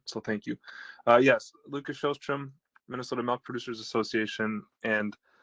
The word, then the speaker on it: Sjostrom: It looks like the next commenter is Lucas Sjostrom. You're unmuted, Lucas. Pronunciation on a state call I've ever heard. Well done. So thank you. Yes, Lucas Sjostrom, Minnesota Milk Producers Association, and I appreciate Denise's comments earlier.